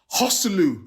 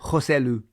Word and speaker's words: Joselu: it just played into Real Madrid's hands and hosu is that how you pronouncing Gary hosu is that right joselu hu okay have you seen his career please